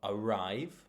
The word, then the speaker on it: arrive: However, in two-syllable verbs, prepositions, and connectors, it's usually stressed on the second syllable. So we've got arrive, behind, before, right?